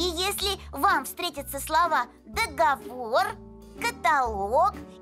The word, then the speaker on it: договор: слово так долго сбор ударение на последний слог договор а во множественном числе